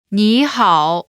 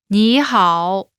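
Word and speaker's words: 你好: knee hall pronunciation note when there are two third tones in a row the first one changes to the second tone listen to the pronunciation again knee hall knee hall this pronunciation change is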